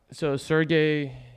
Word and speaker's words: Sergey: Sergey, it's pronounced Sergey. He's the CEO of Chainlink.